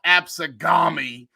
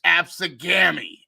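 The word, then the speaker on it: Absegami: And it's not Absagami, it's Absagami."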